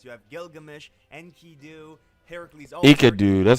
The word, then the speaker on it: Enkidu: Enkidu, that's how you say it.